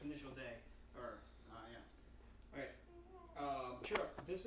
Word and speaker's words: Initial D: Initial Day is the correct way What? to pronounce the name. Yes. I know you think it's Initial D, but it's Most Initial people Day. know it as Initial D.